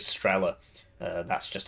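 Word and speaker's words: Strela: I like to say stala even though the the pronunciation of this is strella uh that's just how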